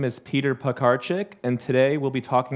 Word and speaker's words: Piekarczyk: My last name is pronounced Piekarczyk. But in the States, that's really hard for people to say. So we say pie, car, chick, right? Pies, cars, and chicks, all stuff that we like, right?